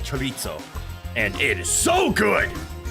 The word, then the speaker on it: chorizo: Ignore my American pronunciation of chorizo. It's just what I'm used to. I know it's more like chorizo, and it is so good.